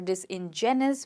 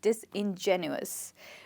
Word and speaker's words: disingenuous: The next one that we have is “disingenuous” that's how we pronounce this word genuine, right? So as it is written the same way it's pronounced we do not call it disingenuous or this ingenuous we call it disingenuous right.